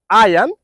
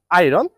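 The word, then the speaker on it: iron: থেকে শব্দটিকে পড়বেন হচ্ছে আয়ান আই can repeat the word আয়ান this is নট আয়রন আপনি একটি সেন্টেন্স মেক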